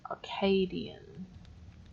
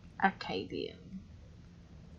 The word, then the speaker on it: Acadian: ] by the way it's pronounced arcadian acadian there's no r after the a arcadia is a